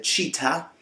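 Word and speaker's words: Cheetah: da fare Un'altra precisazione cita pronunciato più o meno correttamente dovrebbe essere cita qualcosa del genere cita non è la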